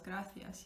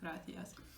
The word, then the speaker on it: gracias: Like the word gracias, dar las gracias, yeah, say thank you, or the word thank you, muchas gracias. Again, it's a gracias in Spain and gracias in Latin American countries.